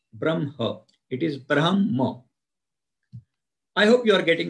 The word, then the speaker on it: Brahma: in the first verse there is a word Brahma repeated three two times Brahma and sakshma please